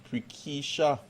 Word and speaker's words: Prakesha: let me ask um prekeisha i hope i'm not mispronouncing that name prakesha palmer yes that's correct it's for keisha palmer roberts